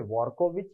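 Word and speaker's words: Dvorkovich: ठीक है, डी जो होता है असल में उनके सरनेम में शामिल है, लेकिन मैक्सिमम जगह पे इसका उच्चारण साइलेंट होता है, इसीलिए वॉर्कोविच या ड्वारकोविच।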